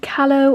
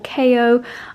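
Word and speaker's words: Kallo: my new favorite things i don't know if it's meant to be kalo or ko i would pronounce it ko because 2l's in spanish is a yeah but i don't think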